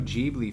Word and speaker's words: Ghibli: Now listen, real quick, I like to say Studio Ghibli because that's how that word is actually pronounced. But they like the way, because it's based on like some Italian plane, but they like saying Ghibli.